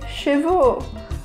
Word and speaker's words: chevaux: XVIe siècle à Paris, les gens on développé une tendance à prononcer « O » pour l'AU un cheval, des chevaux / un animal, des animaux Simple, n'est-ce pas ?